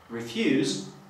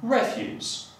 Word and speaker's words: refuse: W przypadku czasownika wymawiamy, akcentując na drugą sylabę, będzie to refuse, a w przypadku rzeczownika akcentujemy pierwszą sylabę, czyli refuse.